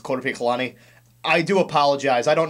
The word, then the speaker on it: Korpiklaani: mispronounce something for example I'm pretty sure the band's name is actually pronounced quot colani I do apologize I